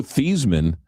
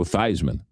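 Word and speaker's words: Theismann: Also, it was Joe Thesman in college and then they had a campaign to change his name to rhyme with Heisman and then it was Joe Thyman.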